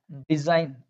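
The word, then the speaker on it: design: आई जी जब इकट्ठा आ जाता है, ओके, तो वहां पर ये जी साइलेंट हो जाता है। जैसे डिजाइन, एस को बोल दिया ना हमने, ये बोलने की जरूरत नहीं है।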